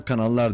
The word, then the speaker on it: Canals: Bugün yeni gelen Canals adın, pardon, Canals diye yazılıyor, kanallar diye okunuyor.